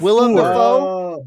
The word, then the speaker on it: Willem Dafoe: Willem Dafoe? DEFOOR. I know, but that's why she did it. William Defoe.